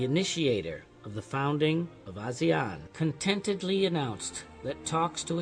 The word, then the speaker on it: ASEAN: On the 7th of August, 1967, the summit was satisfied with the name ASEAN, as the pronunciation of ASEAN is close to Asian.